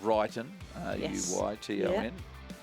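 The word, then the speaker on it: Ruyton: correctly and I said I had it drummed into me years ago from um Roger Wilson that it's ronu TN far side of the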